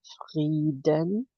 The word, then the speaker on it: Frieden: And I mentioned to you that peace is spelled frieden, which phonetically sounds a lot like freedom, which is freiheit.